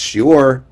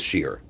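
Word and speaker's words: שיעור: In modern Hebrew, it's shiur. If you are in a yeshiva, no one says that. Everybody says shiur.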